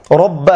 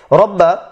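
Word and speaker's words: رَبَّ: চিহ্নটা দেওয়া রয়েছে ফালইয়াবুদু রব্বা হাযাল বাইত। রব্বা এখানে ডবল ব নিয়ে আসা হয়েছে এই জন্য যে এখানে বায়ের উপর তাসদীদ রয়েছে আরবি ভাষা, আর এই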